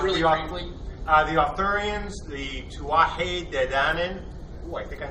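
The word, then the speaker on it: Tuatha Dé Danann: The Arthurians, the Tuatha De Danann.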